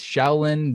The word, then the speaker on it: Shaolin: And Shaolin, is that how you say it? Shaolin? Yes, Shaolin values to protect her community